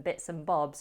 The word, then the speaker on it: bits and bobs: When saying this phrase, we use the weak version of and we drop the D, leaving us with bits and, bits and. See, we blend the N with bits to make bitsin, bitsin.